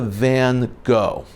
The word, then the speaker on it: Van Gogh: classic look at the van Gogh though correctly pronounced it is Van Gogh the GH is pronounced as an F in a moment more